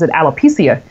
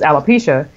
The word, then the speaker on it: alopecia: and I saw alopecia, but I thought it was alopecia, so I didn't know how to pronounce it. Mm-hmm. But it was through my project I realized that it was alopecia, and it was I